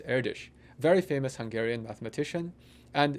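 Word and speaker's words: Erdős: spelled er D OS and his name is pronounced air dish very famous Hungarian mathematician and he was one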